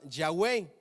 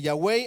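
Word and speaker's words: Yahweh: jarl o a mí me dijeron que ese te traga monte programa ton se pronunciaba ya way ok ahora eso no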